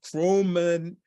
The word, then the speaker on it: chromatin: Epigenetics, environmental factors, chromatin.